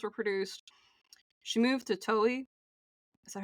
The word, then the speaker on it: Toei: She moved to Toei. Is that how you pronounce it? I really hope I'm... Toei, yeah.